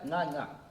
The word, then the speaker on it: Ngcangca: Ngcangca. Yes. Am I pronouncing your surname right? You're pronouncing it right.